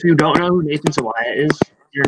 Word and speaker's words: Sawaya: Sawaya is how you pronounce it properly. Sawaya.